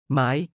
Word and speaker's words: ไม้: ไม้ ไม้ 마이처럼 발음는 식물과 나무 제품에 대해 접두사와 전미사 모두로 사용됩니다.